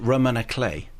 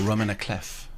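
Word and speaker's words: roman à clef: Do you pronounce it Roman a clay or Roman a clef? Clay I believe is you're just going French for Yeah. The French can say it however they want.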